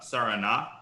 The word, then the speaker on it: Sarana: think it's pronounced uh saranac with the accent on the last a okay but that's hard